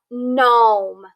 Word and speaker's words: gnome: look at that so here at the beginning of the word we have gnome so that g is silent and the n makes the sound but we have to